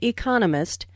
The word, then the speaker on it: economist: There are 4 syllables in economist, with the stress on the second syllable, economist.